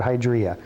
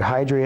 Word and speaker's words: hydria: called a hydra and for years i call it hydria but hydra is the proper pronunciation according to the big fat dictionary i bought from nell